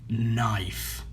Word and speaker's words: knife: KN عندما تأتي N بعد K لا ننطق K. Alright. عندما يكون هنا K وبعده N لا ننطق K، لا تنطق. فهنا كيف ننطق هذه الكلمة؟ knife، لا ننطق K. أوكي. لماذا؟ لأنه متبوع بN.